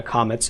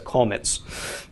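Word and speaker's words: kametz: But anyway, but yes, in the Ashkenazic dialect, the comets will be pronounced differently. Okay, it's not a comets, it's a kolmetz.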